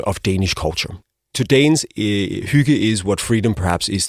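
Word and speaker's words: hygge: So, it's pronounced huga.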